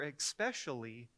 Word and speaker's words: especially: Especially is especially, and mischievous isn't really a word, it's mischievous.